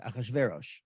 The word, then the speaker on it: Achashverosh: If you just add an "a" before, which would make it easier for a Semitic person, a Hebrew speaker, to pronounce it, it's Achshayarsha, Achshverosh. There it is, Achashverosh.